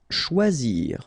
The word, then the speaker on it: choisir: Choisir, okay, remember when you combine this C and H, you get the sound sh, and then OI, wa, okay, choix, and then zir, choisir.